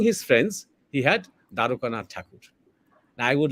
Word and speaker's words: Thakur: use this word Thakur and not Tagore, just because I'm talking in English, because Thakur is the name. And this is a bit shameful that we Indians and Bengalis continue to use the distorted pronunciation that the Europeans had started because they could not pronounce.